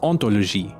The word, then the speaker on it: hauntology: When spliced together, the resulting word is ontology, which with its silent H sounds quite similar to ontology.